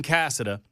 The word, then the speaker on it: Casada: Cassida. Yeah, Glenn Cassid. Glenn Cassida.